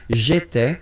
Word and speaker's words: j'étais: J'étais, okay? Remember, here we've got accent aigu, so it goes like et, alright?